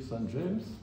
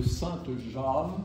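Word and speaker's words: Saint-James: prieur le couturier de Saint James ou plutôt de sainte Jam parce que c'est il était originaire de l'Orne donc son nom ne doit pas être anglicisé dans la prononciation c'est un un personnage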